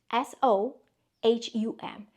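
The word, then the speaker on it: So Hum: S-O-H-U-M.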